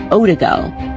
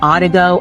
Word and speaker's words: Odigo: There was an instant messaging service that was called Odigo. Maybe I'm saying it wrong. Odigo, O-D-I-G-O.